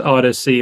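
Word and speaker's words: ODSi: things so for those listening at home it's pronounced Odyssey but it's actually spelled o DSi so in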